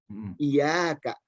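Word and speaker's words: إِيَّاكَ: Iyyaka Kadang-kadang di sini kita juga malas bacanya iyyaka, jadi ada tasydid. Iyyaka, iyyaka. Kadang-kadang begitu kan? Nah, mestinya kita bacanya iyyaka.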